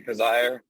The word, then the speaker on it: Coziahr: this week is Barry Kozar that's right Kozar or Cozier it's because I heard it rhymes with desire desire okay our guest this week is Barry khizire he's a Serial entrepreneur